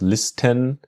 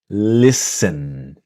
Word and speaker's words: listen: Now here in the word listen, the t is silent. So we don't we do not pronounce listen but listen.